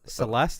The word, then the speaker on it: Celeste: Celeste. Celeste, is that how you say it? Yeah.